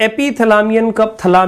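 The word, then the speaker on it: epithalamium: इसे ऐसे पढ़ेंगे एपिथलामियम।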